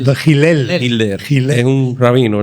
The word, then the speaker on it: Hillel: pronúncialo Ay, claro, que parece que has dicho las de No Hitler. Hitler. No, Hillel. de Hillel.